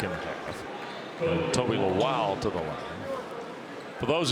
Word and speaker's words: Lawal: At Virginia Commonwealth, Toby was referred to as Lowell. Brian Cox, their fine basketball sports information contact, Dan. When Toby came to Virginia Tech, they were confirming pronunciation. He said it's Lowell. So those of you who followed the Rams knew him as Toby Lowell. He is Toby Lowell because that's the way he prefers the pronunciation.